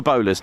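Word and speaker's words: BOLARS: They have spelt it differently, and I believe it's to do with the amount of letters in the call sign, but it's spelt B-O-L-A-R-S, but it is the bowler hat, which I have one.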